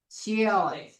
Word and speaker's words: Chile: Chile. Chile. Nah, bukan Chile, nah. Chile. Kan I bacanya.